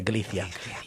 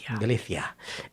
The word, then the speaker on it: Galicia: you just have to say it like the Galicia. Galicia.